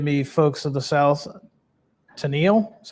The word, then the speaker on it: Tennille: Originally operated from, forgive me, folks of the South, Tennille, that's how you say it, Georgia, to Sandersville, Georgia, and it was chartered in 1839.